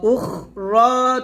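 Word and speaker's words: أُخْرَى: তারপর ওয়া উখরা তুহিব্বুনাহা, ওয়া উখ, ওয়াও জবর ওয়া, হামজা খ পেশ, উখ, এখানে বাতাস বের করবেন। ওয়া উখরা, র তাকলিফ টান দিবেন।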